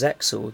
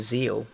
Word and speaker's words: ZEXAL: apparently isn't actually pronounced Zexal the x is just a mark so it's actually just Zeal but there we are